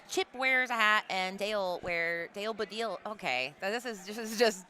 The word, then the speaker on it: dale: What's important is that Dale is pronounced like Pitbull says it. Dale.